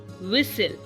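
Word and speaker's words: whistle: tomato tub test extra T silent कब होता है जब एस टी एल किसी वर्ड के पीछे जड़ जाता है जैसे कि सी ए एस टी एल ई डब्लू आई एस टी एल ई एनई एसटी एल ई तो यहां पर इन वर्ड्स को हम ऐसे पढ़ते हैं कैसल विसल नेसले ओके टी यहां पर साइलेंट है अब अगर टी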